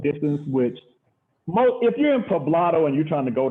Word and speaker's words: Poblado: Is that how you pronounce it? Poblado, yeah, Poblado.